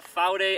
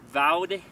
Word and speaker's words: Vaude: up a couple years ago um it's the faude astra ii now four day is the apparently the correct pronunciation of it but it's written v-a-u-d-e vowed for the north americans among us including myself